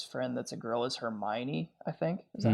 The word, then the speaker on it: Hermione: His friend that's a girl is Hermione, I think. Is that how you say it? Good pronunciation.